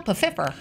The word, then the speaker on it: Pfeiffer: Michelle Pfeiffer is amazing. We pronounce our P's around here. We pronounce our P's. That's right. I love Michelle Pfeiffer. Some Pfeiffers.